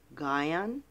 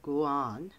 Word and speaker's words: Guion: I have is Guion or Guion. It's spelled G-U-I-O-N, Stuart Bluford Jr., and May C.